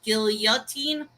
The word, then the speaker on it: guillotine: all i'm gonna say guillotine is pronounced with the y for the for the l's so wait there's no